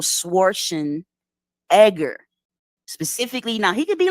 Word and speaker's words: Schwarzenegger: no no no no that's not how you pronounce it it's pronounced Arnold schwarzen Edgar specifically now he could